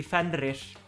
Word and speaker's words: Fenrir: You just have to roll your R's. The Icelandic Oh, I can't do that. pronunciation would be Fenrir.